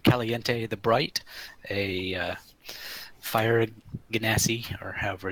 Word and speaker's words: genasi: And I'm playing Caliente the Bright, a fire genasi, or however it's actually pronounced.